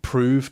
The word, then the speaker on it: prove: Some of the pronunciations are very weird, like prove to rhyme with love, so prov.